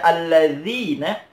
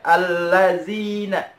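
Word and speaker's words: الذين: Nah, kebanyakan orang baca alladzina, bukan za. Seharusnya dibacanya za. Alladzina. Kebanyakan orang membaca allazina. Allazina an'amta. Pakai zai, bukan pakai za.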